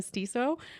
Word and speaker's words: Stiso: Um, it is myself, Arcadia, my co-host, Tori, and we are so excited to uh get to talk today with Christina Stisso from Did I pronounce that correctly?